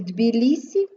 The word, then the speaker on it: Тбілісі: не вимовляємо у слові Тбілісі дві лісі ти вимовляємо м'яко Метелиця твердо Отже всі